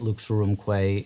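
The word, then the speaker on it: Lux Aurumque: um so what what inspired you to write luke's room clay and um what story is the piece telling ah well first your pronunciation of it is spectacular oh good you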